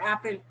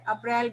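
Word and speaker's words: April: तो इ अप्रल L Hindi में क्या बोलोगे अप्रैल बोलोगे ट लेकिन करेक्ट प्रशन है अप्रल ल ए नट य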